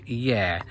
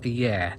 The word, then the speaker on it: Yare: Is it called Yar or is it called Yare? And she did in fact say it's called the River Yare. Out-of-towners call it the River Yar, but locals call it the River Yare.